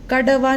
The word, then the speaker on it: कड़वा: ऐसे ही दूसरा देख लेते हैं फ्रेंड, कड़वा, कड़वा, कड़वा। अगर हम बिंदी नहीं लगाएंगे और सिर्फ ड लिख देंगे बिल्कुल गलत बनेगा। आप उच्चारण करके देखिए, कैडेवा, कड़वा, कड़वा नहीं होता फ्रेंड, वो होता कड़वा, ड।